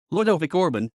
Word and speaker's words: Ludovic Orban: Ludovic Orban Romanian pronunciation Ludovic Orbin born May 25th 1963